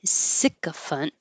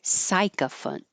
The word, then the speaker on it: sycophant: It can be sycophant or sycophant. The A and T also I do hear with an ant, sycophant, sycophant. But in the dictionary, the was first choice, so that means it's more common.